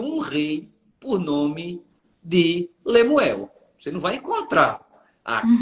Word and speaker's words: Lemuel: Há quem diga que a pronúncia correta é palavras para Muel. Hum, palavras para morrer. Palavras para Muel. É por isso que Lemuel. É como nós lemos Bar Jesus.